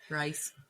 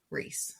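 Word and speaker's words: Rhys: It's giving Reese all over again. Yeah. Yeah. Rice. Reys. Not finding out his name is pronounced Ree until the last book when Rice Riceand is in my mind.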